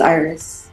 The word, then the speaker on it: Iris: Iris in Spanish, but it's Iris.